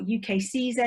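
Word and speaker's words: UKCISA: always reminds us that it's easy to remember because it rhymes with visa which is a lot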